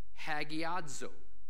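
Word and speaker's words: ἁγιάζω: Sanctify, in the Greek, is pronounced hagiadzo.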